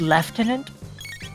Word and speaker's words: lieutenant: Did you know that lieutenant is not the original pronunciation of that word? It's lieutenant. Oh yeah, I remember. Don't ask me where they get the F.